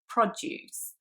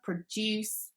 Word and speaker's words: produce: something to make something so in produce you can clearly hear that the first syllable is the strong one produce whereas in the second one produce which is a verb the second syllable is the strong one the one that's emphasized more and similarly in the